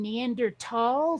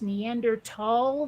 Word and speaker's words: Neanderthal: the way I figured if they wanted it pronounced Neanderthal they should have left that H out from the beginning yeah but now you